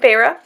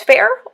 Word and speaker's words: Feyre: I kept thinking it was fair, or it looks like fire or something, and then she's like, oh, my sister pronounced my name, and it was like Feyre, and I'm like, what the hell, Feyre?